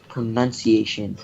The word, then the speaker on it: pronunciation: or there's no oh sorry there's no free its pronunciation not home now creation get it right wow